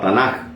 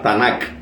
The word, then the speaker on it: Tanakh: Una particularidad de esta palabra, Tanakh, muchos la pronuncian con J, Tanakh, otras veces con K al final, Tanakh.